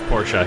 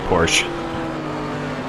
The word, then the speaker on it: Porsche: It is Porsche. Yeah, in German it's it's Porsche, but uh people do say Porsche.